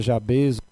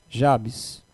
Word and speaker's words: Jabes: Alguém pronuncia Jabez, Jabes, mas vamos chamá-los de Jabes.